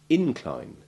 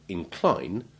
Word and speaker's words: incline: Note too that the primary and secondary stresses are commonly exchanged between the syllables to distinguish the verb incline from the noun incline, exactly as with the verb intrigue and its noun intrigue, whereas decline is like fatigue and always keeps the stress on the second syllable, whether it is the verb or the noun.